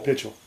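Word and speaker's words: Pichel: Gloria Holden and Irving, how do you pronounce it? Pitchell? Yeah, Pitchell.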